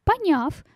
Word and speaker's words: поняв: Поняв. Депричастие. Суффикс «в». Ударение ставится на букву перед суффиксом. Поэтому цифру 3 я взяла.